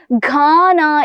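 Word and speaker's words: खाना: മക്കൾ ഉച്ചാരണം ശ്രദ്ധിക്കണം. ഖാന എന്നാണ് നമ്മുടെ തൊണ്ടയുടെ ആ ഒരു ഭാഗത്ത് നിന്നാണ് നമ്മുടെ എന്ത് വരുന്നത്? ഉച്ചാരണ ശബ്ദം വരുന്നത് അല്ലെ. ഖാന എന്നാണ് ഇത് വായിക്കുന്നത് അല്ലെ.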